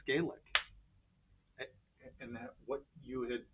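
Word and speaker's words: Gaelic: Puffs sh says yep you said it right it's gelic and that what you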